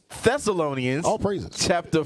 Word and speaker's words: Thessalonians: I'm sorry, I keep saying Tess. I thought the H was silent. The H is silent, y'all. 1 Thessalonians all praises.